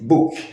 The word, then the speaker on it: book: Por exemplo, a palavra book, livro, fala-se book, a grafia B-O-O-K. Esses dois Os têm o som de U, certo?